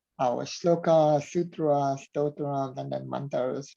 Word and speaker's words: sutra: It's not sutras. It's sutra, Yeah.